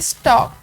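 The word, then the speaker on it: stalk: Second STA हमने पीछे पढ़ा है डंटल, STAL के स्टॉक, और जो L है वो हमारे पास साइलेंट साउंड है.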